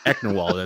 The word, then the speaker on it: Ecknerwall: And that is just Lawrence spelled backwards. So if you know how to spell Lawrence, spell it backwards, guys. Ecknerwall, that's how it's pronounced.